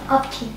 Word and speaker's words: Abtin: Abtin. Abtin. How do I spell it?